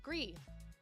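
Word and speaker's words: Gris: Gree, pronounced Gree, you were right, is a gorgeous indie game, all watercolors.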